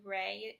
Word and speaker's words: Rey: So that way he kind of has, and his middle name is Rey, R-E-Y, which means king in Spanish.